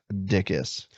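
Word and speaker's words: Dickes: last name is dickis yeah pronounced dickis looks like beld d i c k uh e s I imagine going through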